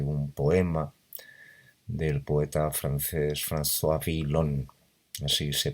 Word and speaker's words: François Villon: 45 acerca de un poema del poeta francés François Villon, así se pronuncia más o menos.